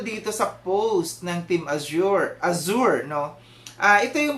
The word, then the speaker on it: Azure: issue ah dito between Team Azure no ah yun yung tamang pronunciation Team Azure no and ah dito